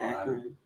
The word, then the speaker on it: Akron: Akron.